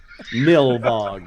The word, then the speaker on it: Nilbog: trying to remember how to say it, Goblin backwards. I couldn't do it. Nilbog.